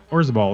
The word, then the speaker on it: Orzabal: English singer-songwriter, guitarist, and producer Roland Orzabal was born. Orzabal, excuse me. Born rhymes with Parzival.